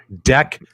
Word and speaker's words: deck: Make sure you pronounce it correctly. I know with that Canadian accent, you might get us demonetized. It is deck protector. Deck. Watch how you say the word deck, my friend, with that thick Canadian accent.